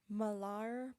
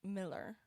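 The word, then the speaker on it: Millar: the one though that everyone keeps telling me malar pronounced miller oh so it's not oh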